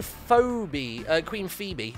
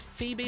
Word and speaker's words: Phoebe: Queen Phoebe. Was that pronounced Phoebe or Phoebe? I'm pretty sure it's Phoebe. I think Phoebe's one of those ones where it's not spelt the way you think it would be.